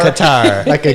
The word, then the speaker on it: Qatar: going down the Qatar Qatar like a guitar yeah guitar all right that's exactly it but that's not how you really pronounce it that's how they only know that foreigners can pronounce it so it's Qatar airlines